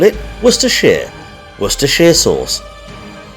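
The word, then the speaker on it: Worcestershire: Worcester sh though it's not like we actually pronounce it like that either wor Shear that's what we call it wor Shear wor Shear Source right it's settled carrying on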